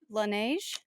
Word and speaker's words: Laneige: you do it because you're more culturally cool laneige nice yeah that's um and they have all